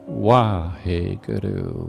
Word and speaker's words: Wahe Guru: And then the last line, it's also the first syllable. So, Wahe Guru, Wahe Guru, Wahe Guru.